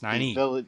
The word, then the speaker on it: Nynaeve: I can't pronounce it. You mean Nynaeve Al'Thara? Nynaeve. Yes, Nynaeve.